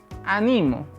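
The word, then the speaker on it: animo: de esperanza no tenemos si le cambió el sonido en el segundo en la segunda sílaba tendremos ánimo que es la conjugación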